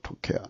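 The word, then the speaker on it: תוכחה: 음력으로 책망은 토우케하흐입니다. 토우케하흐. 그리고 발음으로는 토케하입니다. 토케하.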